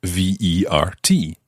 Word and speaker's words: vert: a liv revere there here is spelt v-e-r-t however if we wanted to talk about a green car the word for car is watchu and it's feminine so we would say and this time it's spelt v-e-r-t-e so the e at the end makes the t sound the t is no longer silent listen to how these